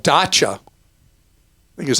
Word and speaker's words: Dacia: In Europe, there's a company called Dacia, I think is how you say it, D-A-C-I-A, that sells new vehicles that people have really loved.